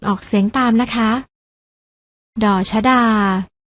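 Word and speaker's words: ฎ ชฎา: แก่ พยัญชนะ ตัว แรก อ่าน ออก เสียง ว่า ด ชดา ส่วน พยัญชนะ ตัว ที่ 2 อ่าน ว่า ว่า ด เด็ก ลอง อ่าน ออก เสียง ตาม นะ คะ ด ชดา ด เด็ก พยัญชนะ ทั้ง 2 ตัว นี้ อ่าน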